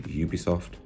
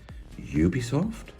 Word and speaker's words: Ubisoft: Yes, I'm British, so I say Ubisoft. I'm sure many people watching this will be like, Ubisoft? Doesn't he mean Ubisoft? It's a bit like we say Tuesday in the UK and Americans say Tuesday.